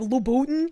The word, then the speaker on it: Louboutin: Sometimes I pronounce it wrong and I'm just like Louboutin. It's hard to remember. It's Louboutin.